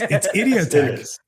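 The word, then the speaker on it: IdiotEQ: His name is spelled Idiot EQ. Let's be fair. It's Idiotech. I get that it's Idiotech.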